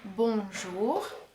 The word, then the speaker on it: bonjour: So, it is bonjour.